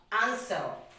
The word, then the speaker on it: answer: it is silent now another example we have is what a and s w e are answer now the next example we have is what s w o r d sort so now we have understood about w silometer now the next summary